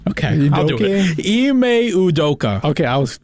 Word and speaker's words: Ime Udoka: I don't know how to pronounce his name. Okay, I'll do it. Ime Udoka.